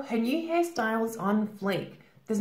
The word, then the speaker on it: fleek: is to be on fleek on flink here careful pronunciation fleek fleek now if someone or